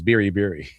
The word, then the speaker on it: Biri: That's how you actually pronounce it. It's Biri.